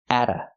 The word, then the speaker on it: at: The T is pronounced as a fast D because it's between vowels. Atta. Not at-a, but atta. They're looking at a picture.